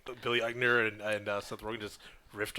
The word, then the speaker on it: Eichner: But then also we have Billy, how do you Billy pronounce this? Eichner.